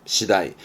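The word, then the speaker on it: 次第: 잘 씁니다음 발음은 시다입니다 조심하실 건 시다입니다 시다이 시다이의 차례 순서 차례를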